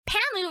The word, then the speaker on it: Pamu: Pamu rhymes with doomy.